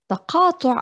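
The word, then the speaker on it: تقاطع: Taqatu' aw taqatu', because we like to pronounce the qaf as a glottal stop.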